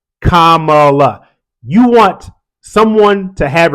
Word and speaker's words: Kamala: and a half years learn her name Kamala whether you like her or not whether you're for her or against her whether you're with her or you're not with her say her name right Kamala you want someone to